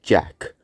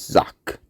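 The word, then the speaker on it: Jacques: At first, I thought it was just said like Jack. Then I thought it must be Jacquez. But I started saying like that for a while until I finally found out the pronunciation is Zach.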